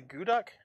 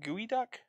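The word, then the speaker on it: geoduck: got a curse uh how do you say this the goo duck i think it's called gooey duck gooey doom yeah gooey duck it's i know that it's not it's not how it looks uh so we got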